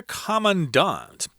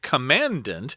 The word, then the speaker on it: Commandant: So it begins with a greeting, "My dear Commandant." That word looks like commandant, but that's not how you pronounce it.